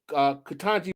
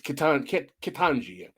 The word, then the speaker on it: Ketanji: And this woman, Ketanji Brown Jackson, her job was to advocate policy to actually try to mitigate these type of disparities.